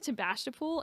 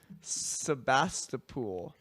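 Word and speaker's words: Sebastopol: to look up I keep saying tasol and that's definitely not right um to basol that's I don't oh gosh just keeps repeating the wrong answer she's going to debas fa oh gosh um how do you say that that town there oh it's an S not a t Sebastapol only if only we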